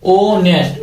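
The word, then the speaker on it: honest: ओ से हो रहा एच हमारा क्या है साइलेंट है एस से स्टार्ट नहीं हो रहा किससे हो रहा ओ से स्टार्ट हो रहा है ओ नेस्ट ओ नेस्ट तो ओ किसम आ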